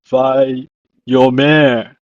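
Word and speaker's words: ויאמר: In Hebrew, it's pronounced as vayomer.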